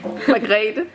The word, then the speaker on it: Margrete: how say her name te me Teach me Margrete Margrete Ja ja Margrete Okay magrete Ja ja Good the most gorgeous ever seen